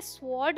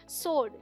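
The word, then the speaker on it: sword: तलवार की इंग्लिश है इसे स्वर्ड नहीं बोलते यहां पर डब्लू साइलेंट है ये है सोर्ड जैसे डब्लू लिखा ही ना हो एस ओ आर डी क्या पढ़ेंगे सोर्ड तो गाइज ऐसे बहुत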